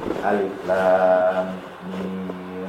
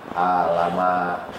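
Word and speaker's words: الم: Alif lam mim begitu dibacanya tidak alama, tapi alif lam mim, alif lam ra, kaf ha ya ain shad, ha mim ain sin qaf.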